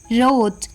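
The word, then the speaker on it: wrote: सी के रक डब्लू आर ओ टी ई रोट डब्लू आर ए एन जी रैंग डब्लू आर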